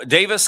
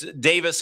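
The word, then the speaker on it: Daviess: Well, I think it's Davis in Kentucky as it looks like Davies. And of course, Kentucky says it Spelled the same way. It's just pronounced two different ways.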